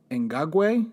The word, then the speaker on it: Ngakoue: We actually called the press office over at the Jacksonville Jaguars and tried to get a proper pronunciation of his name. And I know it's Yannick Ngakoue.